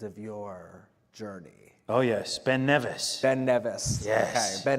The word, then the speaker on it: Ben Nevis: Oh, yes, Ben Nevis.